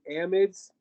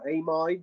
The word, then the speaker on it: amide: going to talk about amides okay sometimes people pronounce them amids um i worked with a british guy who called them amides so it doesn't matter what you call it as long as